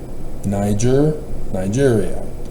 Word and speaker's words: Nigeria: Gotta say the Ni, because it's Latin. My Latin teacher was very strict on this, to pronounce them correctly and not get lazy with English imposed onto Latin. To turn the, and I probably did it, didn't I? Niger? Yeah, I said Niger, not Niger. You probably hear a lot of people pronounce it Nigeria and Niger. No. It's a G. G. Nigeria.